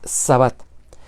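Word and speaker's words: שַׁבָּת: el sábado el sábado Cómo se dice la palabra es shabat Y aunque muchas personas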